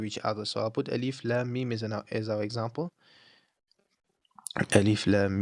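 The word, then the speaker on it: الم: So it's alif lam mim.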